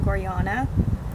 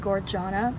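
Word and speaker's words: Gorjana: jewelry is from goriana that is how you say i just found out at first for a while i said gorgana but then i thought i've heard the founders say goriana but i don't know people say goriona so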